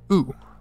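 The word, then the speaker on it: う: u turned sideways and it's pronounced ooh like the end of you next up from the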